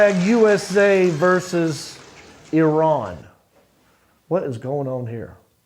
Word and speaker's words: Iran: I ran Oh, USA. USA. I'm just kidding. I'm just joshing around. I totally know. Uh, USA played Iran. And that's how you say it, by the way.